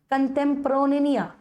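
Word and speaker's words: contemporanea: कंटेम्प्रोनिया ऐसे कहा जाता है उसको।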